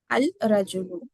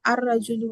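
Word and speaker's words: الرجل: तो क्या होता वो, अल रजुल होता या अर रजुल होता? अर रजुल होता। ठीक है, अर रजुल, क्यों अर रजुल होता है? क्योंकि लाम आगे वो साइलेंट हो जाता, वो साइलेंट है वो।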